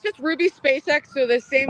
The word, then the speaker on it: SpaceX: it's SpaceX, like the actress, but it. SpaceX. Yes, but people say Space K just to mess, or I don't know. Some people pronounce it like that by accident.